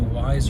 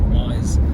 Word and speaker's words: Weis: I think it's spelled W-E-I-S, and I didn't know how to say it, but I've heard a lot of people call it Wise, so I think that's how it's pronounced.